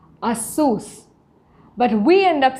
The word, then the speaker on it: Asus: many of us most of us we say asus but the real pronunciation is asus a source but we end up saying asus and we